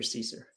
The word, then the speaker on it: Caesar: And let's before we get started, let's correct the last name Caesar so that they know Caesar.